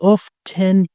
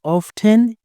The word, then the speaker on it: often: She is often late. Attention. You can pronounce often or often. Often say often. They are all correct.